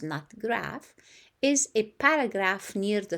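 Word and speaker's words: nut graf: a term that reporters use in that graph pronounced not graph is a paragraph near the top of an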